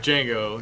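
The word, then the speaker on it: Django: name and he's like Jango he's like how do you spell it he's like DJ a n g o and he's like the D is silent and Franco's like yeah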